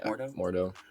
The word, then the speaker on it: Mordo: a way um and we see that uh more dough more is that how you pronounce it yeah mordo we see him again do you guys think